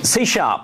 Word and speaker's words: C#: Okay, so C#. It's pronounced C#, and that's why I keep saying C#. It's interesting we have that on the slide. It looks like C pound is why. That's right.